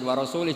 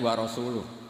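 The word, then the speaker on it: وَرَسُولُهُ: Wa rasulih juga tidak ngurus Rasulnya. Kalau sama Rasul saja tidak ngurus, apalagi sama kita. Sama Sayyidina Ali dibenarkan, yang benar bacanya itu wa rasuluh.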